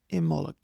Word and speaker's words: Imbolg: So Imbolc is pronounced either, depending on whether there's a C or a G with it, it's pronounced Imol or Imullig.